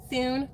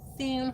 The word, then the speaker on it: Thune: Thune? That's how you have to say his name. Thune, like that.